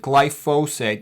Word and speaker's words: glyphosate: And you can pronounce it glyphosate. That's actually the proper way to pronounce it. I like to pronounce it glyphosphate because there's a phosphate attached to a glycine.